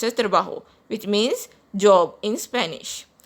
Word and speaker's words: trabajo: Our next word is el señor Paris está contento con su trabajo. Con su trabajo. J is pronounced as hota in Spanish, so this word is pronounced as trabajo, which means job in Spanish.